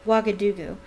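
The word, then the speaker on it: Ouagadougou: stuffed i remember something very similar happening in wakadugu that's how you pronounce that wagadugu tedlockhart a series of attacks the full stories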